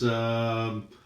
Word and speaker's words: Abwehr: Okay, so the next token is Abwehr, I believe it's pronounced.